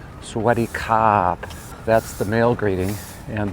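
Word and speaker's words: สวัสดีครับ: And usually when you say Sawadi, you add kop. Kop, so, and that has, Thai people have a lot of inflection, especially at the end of their sentence, so they'll say Sawadi kop.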